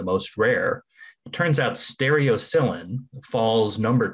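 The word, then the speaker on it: stereocilin: a protein called, and I may massacre this pronunciation, stereocylin?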